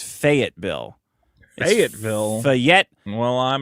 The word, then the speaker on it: Fayetteville: Also, Fayetteville rhymes with Say-it-Bill. Fayette. It's Fayetteville.